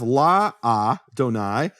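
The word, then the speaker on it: לַאדֹנָי: things here is that the first letter of Adonai is silent. Why is it silent? Because in Hebrew you have la-a-donai. So la-a, it's a contraction, just like you say in English cannot, becomes can't. It's a typical contraction.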